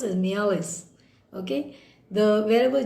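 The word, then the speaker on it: mjölis: Now this Mialis, now it's pronounced as Mialis. Okay. Wherever J is, this J is written here. You can just keep that silent and pronounce it as Mialis.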